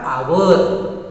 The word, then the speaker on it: hour: और दूसरा है HOUR, आवर। तो यहाँ पर यच का उच्चारण अ की तरह है, तो इस तरह से स्वर की तरह उच्चारण है।